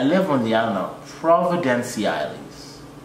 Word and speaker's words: Providenciales: And I live on the island of Providenciales. Say it once a time. Providenciales. You got it, you got it. Not Turks and Caicos. Caicos. No, nigga. Turks and Caicos, straight up. Providenciales.